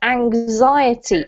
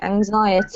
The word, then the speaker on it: anxiety: this word here is anxiety anxiety anxiety anxiety anxiety one yeah so it's like um a zed sound with the X there and then this this